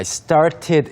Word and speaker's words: started: 네, 첫 번째 장애물은 I started 이 부분이었어요. Started. We never really pronounce the T very strong. It's usually started.